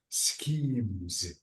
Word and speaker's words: schemes: one scho ah so the S with ch it's SC this is school so this is what schemes schemes okay schemes um